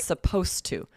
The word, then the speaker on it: supposed to: Supposed to. Supposed to help. And just to be totally clear for our listeners, now we're flipping over to the S sound, right? The S pronunciation, supposed to.